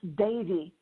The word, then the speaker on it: Devi: So Rudrani, and is it Devi? How do you say your last name? Actually, it's Sanskrit, and it's pronounced Devi, like Davy Crockett. Oh, very cool. I know. It's tricky. So Rudrani Devi, she is a certified facilitator with Access Consciousness.